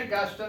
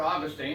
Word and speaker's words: Augustine: It was a concept that was created by St. Augustine or Augustine, depending on what syllables you want to put the word, in the 1st century AD.